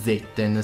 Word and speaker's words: Zetten: Un'altra cosa che vi devo dire è che l'Heavenly Severance si chiama in realtà Zetten, se vogliamo pronunciarlo in giapponese, e fa appunto riferimento al suo creatore, al suo inventore.